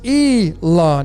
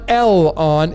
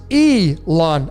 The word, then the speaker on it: Elon: got l it's but it's pronounced e lawn it's not l on it's e lawn so phonetically there's no l in there it's e lon musk elon reeve like